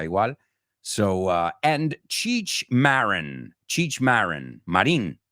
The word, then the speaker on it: Marin: Marin, you say in Spanish.